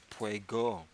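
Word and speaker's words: Peugeot: go and I and I might be pronouncing the name of that brand of car wrong but it doesn't matter I spelled PE you geot I know that I have the second syllable correct well at least the last part of the second the T would be silent but it's spelled PE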